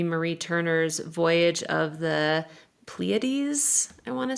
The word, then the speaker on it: Pleiades: I'm reading right now Amy Marie Turner's Voyage of the Pleiades, I want to say Mhm. it's pronounced.